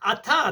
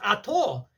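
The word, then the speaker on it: אתה: You say Baruch Atah, not Baruch Ato.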